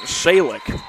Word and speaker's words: Salik: Beg your pardon, Salik comes into the game. That's how it's pronounced.